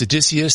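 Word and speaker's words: Odysseus: say it right that right yeah so it's adicus this is intuitive machines is the private company based out of Texas and uh this was their im1 their first launch intutive machines ones so uh adicus is the name of spacecraft although they refer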